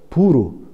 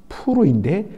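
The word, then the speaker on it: פור: 여러분 이 부림이란 것은 제비 뽑기가 히브리어로 부르, 좀 더 정확하게 발음하면 푸르인데 그것의 복수형이 푸림, 부림이었습니다.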